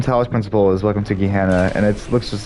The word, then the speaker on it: Gehenna: So the DLC from Talos Principle is Welcome to Gehenna, and it looks just like how these three things are.